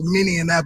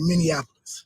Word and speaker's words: Minneapolis: I had it wrong everybody says minap because of Indianapolis Indianapolis is how you say that but uh in Minnesota you say Minneapolis Minneapolis Minneapolis Minnesota okay